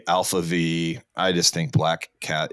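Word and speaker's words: ALPHV: for those there yeah Alpha V is a l p v um so there's no a there so people call Alf V Alpha V I just think black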